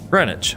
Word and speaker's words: Greenwich: Greenwich.